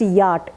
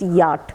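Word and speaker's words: Wyatt: It is pronounced Yacht in your textbook. It is there. It is mentioned, but it is don't pronounce W-Y-A-T-T, but it is to be pronounced Yacht.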